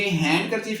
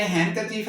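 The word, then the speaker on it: handkerchief: इसी तरह हैंन करचीफ में ये हैंडन करचीफ की बजाय हैं करचीफ है तो ये डी साइलेंट हो जाएगा।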